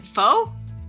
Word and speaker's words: pho: Is it pho?